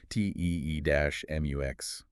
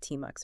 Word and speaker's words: tmux: a specific layout, because the sources mention it drops you instantly into a terminal multiplexer, TEE-MUX. Right, explicitly spelling it out, TEE-MUX, so we don't accidentally pronounce it TMUX or something.